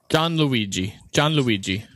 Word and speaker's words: Gianluigi: Gianluigi. We took all that time for you to say John Luigi. John Luigi. It's G-I-A-N Luigi.